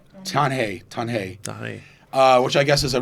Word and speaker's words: Tanjay: It's spelled Tanjay, but you pronounce it Tanjay. Tanjay, which I guess is a real small city, basically a couple hours north of here.